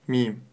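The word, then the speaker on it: ميم: капелька и хвостик буква мим А теперь давайте правильно произнес эту букву мим мим мим буква мим мягкая губная буква для её произношения Нам необходимо всего лишь сомкнуть и разомкнуть губы мим Обратите внимание мим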